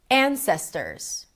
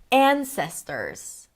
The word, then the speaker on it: ancestors: Ancestors. Ancestors. An, primary stress, long, ses, right there in the middle, secondary stress, ters, short.